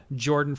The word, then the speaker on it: Jorphdan: And then this Sunday coming up, we have a one-shot with Jordan from YouTube. He's the JORPHDAN, so the PH is silent.